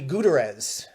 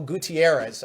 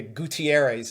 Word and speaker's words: Gutierrez: remember this guy's career at all but Jackie gu Terez I I do see that he did play for the Red Sox before his stint Oh Gutierrez Oh Spanish translator producer Matt throwing in his